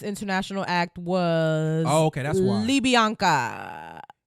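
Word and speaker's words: Libianca: Libyanka. It's not written like that. That's how you say it.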